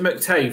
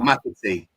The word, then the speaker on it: McAtee: I'd love that is it McTay from Man City? How'd you say his name? The one that we used linked to. I don't think we'll get him. McTay or something. Oh, McAtee.